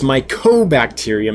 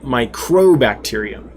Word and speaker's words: mycobacterium: And realized the next day when Michael Wentworth brought it to my attention that I've been saying it wrong, that it's mycobacterium, not microbacterium.